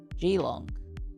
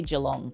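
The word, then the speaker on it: Geelong: Gilong. Isn't that how you say it? Gilong. Jalong. Oh, yeah. You say jalong, don't you?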